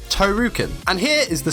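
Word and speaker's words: トールキン: Here is the spelling for Tolkien, which is pronounced as Tohrukin, and here is the spelling for Tohru.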